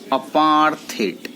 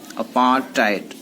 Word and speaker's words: apartheid: of opposing a system of say Grayson called apart hit apartheid you know we will have to pronounce this the correct bones on the way